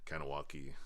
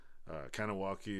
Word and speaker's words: Kahnawake: It's like Kahnawake. A lot of people say Kahnawake or Kahnawake or I don't know.